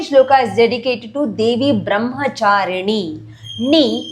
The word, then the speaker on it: Brahmacharini: Second shloka is dedicated to Devi Brahmacharini. Ni, the tongue tip has to touch upper palate when you say pronounce the letter Ni.